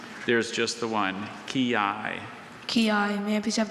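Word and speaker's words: quillai: Kiai.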